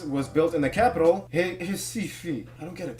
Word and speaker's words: Recife: And the first synagogue in the Americas was built in the capital, Recife. I don't get it. There's an R, but why is it pronounced like an H?